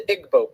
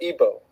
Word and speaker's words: Igbo: happening is in Nigeria you have the Igbo people or ebo pronounced either way there's 40 million of